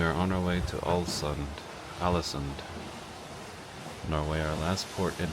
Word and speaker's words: Ålesund: And now back to open waters and to Ålesund, is I think how you say it. It sounds like Allison.